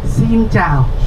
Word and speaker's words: Xin chào: Xin chào. Xin chào. Yes. Can we do it together after me energetically? Xin chào. Xin chào. One more time. Louder. Hello. Xin chào. Xin chào.